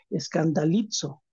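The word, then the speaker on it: σκανδαλίζω: tropiezo es la palabra en el original es escandallizo, así se pronuncia, escandalizzo.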